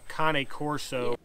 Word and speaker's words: Cane Corso: i've got big cane corso's it's pronounced a coney corso all over i am